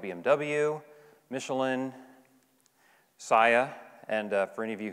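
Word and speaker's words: Saia: clients like bmw michelin saya and for any of you who have passed these trucks on the road and wondered how do you pronounce that and do they make salsa no it's psy and they're an ltl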